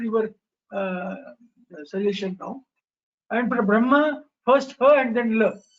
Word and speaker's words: Brahma: And for Brahma, first ha and then la. Sorry, ma. For Brahma. Am I correct? No, sir, you are incorrect. For Brahma, it is ma first and then ha next. Brahma.